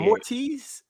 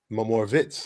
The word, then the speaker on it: Moritz: It's actually Moritz. Moritz, like Dirk Nowitzki. Yes. Oh, I see. It is Moritz.